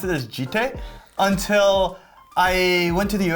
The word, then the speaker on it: Jitte: Yeah, so it's Jitte.